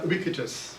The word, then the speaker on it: Ubique: all it's it's pronounced it's actually a Latin word is wikitus in Latin.